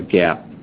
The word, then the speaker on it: GAAP: was being talked about gaap is pronounced like the clothing store and it's an acronym